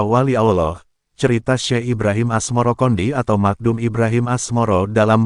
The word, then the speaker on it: Asmoroqondi: Sebutan itu mengikuti pengucapan lidah Jawa dalam melafalkan As-Samarkandi, yang kemudian berubah menjadi Asmorokondi.